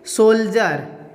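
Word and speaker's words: soldier: बाद आई ई आर है, इसीलिए डी का उच्चारण ड ना करके हम लोग क्या करेंगे, ज करेंगे, इसलिए इसको पढ़ेंगे सोल्जर।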